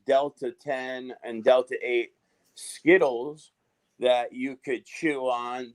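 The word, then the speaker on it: Zkittlez: marijuana strain and it's spelled z-k-i-t-t-l-e-z but it's pronounced skittles i mean if there's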